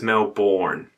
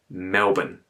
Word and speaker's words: Melbourne: And if you're Americans, you probably pronounce it as Melbourne. Okay, that's the first no-no in this video. It's Melbourne. Melbourne.